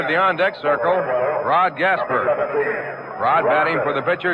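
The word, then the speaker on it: Gaspar: Rod Gasper, he spells his name G P A R. Pronounces it as it were spelled E R.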